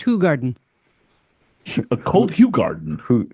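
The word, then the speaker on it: Hoegaarden: A hot garden. Who? Actually, he he says it's pronounced Hog Garden.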